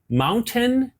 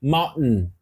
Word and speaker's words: mountain: isso é chamado de glotz é pela glote você para o ar você suspende o ar Dá uma paradinha e dá esse som ó essa palavra aqui